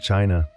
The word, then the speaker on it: qi: In ancient China, health was never just about flesh and bone. It was about energy. The invisible vital force called qi, pronounced chi, flowed through every living